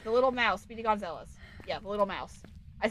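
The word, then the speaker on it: Speedy Gonzales: Speedy Gonzalz. Yeah, the little mouse. I said his name wrong apparently last time and I got caught for it. So, Speedy Gonzalez, the little mouse from Looney Tunes.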